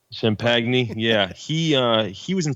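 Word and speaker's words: Champagnie: is Justin champagne yeh yeah that's how you say it Shemp agony I say sham peg knee yeah he he was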